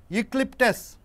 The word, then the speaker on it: eucalyptus: Eucalyptus, eucalyptus, see it is pronounced with K.